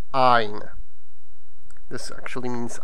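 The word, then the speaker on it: għajn: So, for example, like ein, which is G-H-A-J-N, you can hear that the A is prolongated. Ein.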